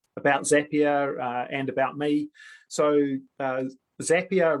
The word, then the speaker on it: Zapier: So Zapier rhymes with happier. For quite a few years, I called it Zapier, but apparently I was pronouncing it wrong.